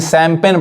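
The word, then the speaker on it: champagne: अब यहां पे देखिए, यहां पे जी साइलेंट है यानी सैम्पेन पढ़ाएगा।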